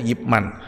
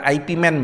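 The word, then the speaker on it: Ip Man: orang orang Hongkong saudara yipman itu bukan Ipman bacanya Ya saudara saya ditanyain kamu sudah nonton Ipman Pak Hah Ipman apa Ipman itu itu yipman gitu itu orang Hongkong itu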